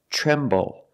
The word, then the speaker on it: tremble: The TR together makes a ch sound like chicken, ch ch ch, tre, tremble.